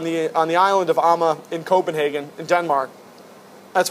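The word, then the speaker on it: Amager: awesome beers as well so if you see Amma beers it's actually it's spelled a m a g r but pronounced Amma check them out as well without show nothing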